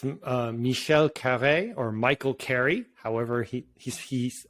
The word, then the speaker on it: Michel Carré: Michel Carré was correct.